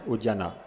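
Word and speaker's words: Udyana: n a which is a spelling which relates to a pronunciation quite different from udan is different udana udana meaning garden.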